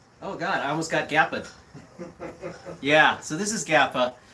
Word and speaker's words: Gappa: Yeah, but yeah, that would be my go-to Gappa or Gappa. How do you say it? I say Gappa.